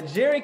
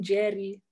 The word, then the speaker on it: Njeri: um yeah and uh my name is pronouncing jerry that was the only thing that again jerry o's no n yeah i have yes that's okay because the ends there we're used to pronouncing ends it's just new that's